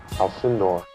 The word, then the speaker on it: Alcindor: now I think we'll get now L alinder Alcindor L alinder smartly changes his name to kareim